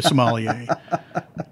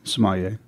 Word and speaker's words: sommelier: activities you're a sommelier you're training to be a Somalia is that right am I even saying that word properly yeah that'll do how do you say it Samaya okay all right yeah